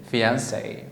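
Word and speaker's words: fiancée: a woman you say fiancee but you write it this way if it is a man you say oh he is my fiance the same pronunciation but with not an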